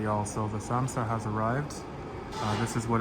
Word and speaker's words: samsa: I didn't get a chance to read about this online, but I heard that it's similar to a samosa and it's pronounced samsa.